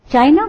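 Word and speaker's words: Qin: seen from the Moon China got its name from Quin or chin it's pronounced as chin once they were ruled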